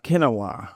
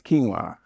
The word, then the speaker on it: quinoa: And I think people still pronounce quinoa kinoa, right? It's not kinoa, it's quinoa.